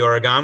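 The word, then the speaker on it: Ouragan: The Dassault, the Oregon, which sounds like the state of Oregon, and the Mystère.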